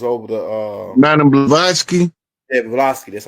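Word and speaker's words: Blavatsky: Helen that was over the uh Madam blaski blaski that's how you say her name yeah yeah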